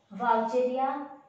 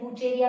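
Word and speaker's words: Wuchereria: Elephantiasis जो disease है, इट is caused by वाउचेरिया मैनक्रॉफ्टी एंड वाउचेरिया मलई। ये इम्पोर्टेंट है, मोस्ट इम्पोर्टेंट। वाउचेरिया या फिर वुचेरिया भी बोल सकते हैं, प्रोनाउंसिएशन वाउचेरिया भी हो सकता है या फिर वुचेरिया मैनक्रॉफ्टी, वुचेरिया मलई।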